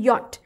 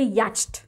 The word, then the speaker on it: yacht: अभी इसका थोड़ा डिफरेंट है, जैसे इसका जो प्रोनाउंसिएशन है वो है यॉट, पर इसका स्पेलिंग जो है वो है याच्ट, YACHT, याच्ट, बट उसे कहा जाता है यॉट।